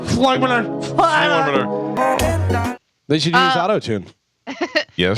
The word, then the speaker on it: Floyymenor: Fly manure. Floymanor, FLOYYMENOR. Yeah, Floymanor. Floymanor.